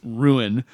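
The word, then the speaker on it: Rouen: road to ruin which it's spelled r o uen but the way they say it is ruin they're on their way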